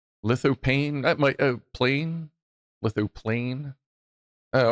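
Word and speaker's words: lithophane: Lithoplane. That might plane. Lithoplane. Oh, okay. Plane, not graph. Okay, yeah, I guess graph would involve ink for graph. Plane would be a flat. Okay, yeah, lithoplane.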